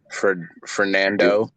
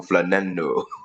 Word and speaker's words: Fernando: Fernando Garcia. Fernando Garcia. No, you're saying it wrong, Rashad. You gotta roll your tongue, Fernando.